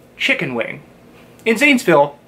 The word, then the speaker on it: Zanesville: Most English speakers, when first trying to say the name of the city, will pronounce it as the way it looks. Zanesville. That's incorrect. Let's pronounce this the way that someone from Zanesville would.